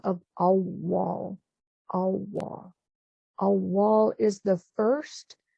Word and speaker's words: Awal: And the it's spelled A-W-W-A-L, so it's got the two W's in the middle, Awal, and that oo in